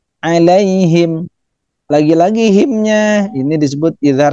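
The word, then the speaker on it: عليهم: Nah, kekeliruan sering kita jumpai alai ya. Tapi yang benar adalah alaihim.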